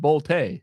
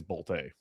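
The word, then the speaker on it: Bolte: if Henry Boltay, and actually it is pronounced Boltay, I believe. Yep, I'm not even being a dummy like I usually am with the Canton dog. I got I'm just it is Boltay.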